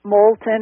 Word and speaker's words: Moulton: last name is Molton it's the English with a long o Molton it's not French and uh I know